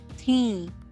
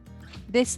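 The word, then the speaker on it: थीं: First is tha, thi, the, and thi. This thi is nasalized. That's why I've underlined N here. You need not read this N, you need not pronounce this N completely. It's only half pronounced.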